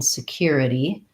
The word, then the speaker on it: security: Request or comment, Vincent says he struggles with the flap T in security. Security. Yeah, okay. So the ITY ending is really challenging for a lot of people. And what I would say is that because we use that so much, quality, quantity, security, authority, just practicing that ITY, the ITY, is going to serve you well because it's not only going to help you in the word security, but in many other words as well.